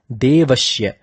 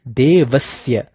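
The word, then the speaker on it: देवस्य: Now this is important because there are many who mispronounce Devasya as Devashya. It is not Devashya, it is Devasya.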